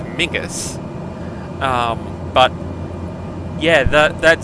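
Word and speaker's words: Menzies: like it which is where the name menes comes from um actually pronounced in Scottish as migus um but yeah that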